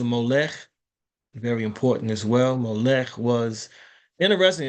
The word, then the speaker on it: Molech: Molech was interesting. It's spelled like almost like Malach or Melech, but it's a lot. It's a Mem, Vav, Lamet, Kaf. Okay, so it's Molech, but excuse me.